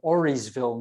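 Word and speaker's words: Auriesville: look it up online you would go to oreysville new york that's spelled a-u-r-i-e-s ville okay um the mohawk name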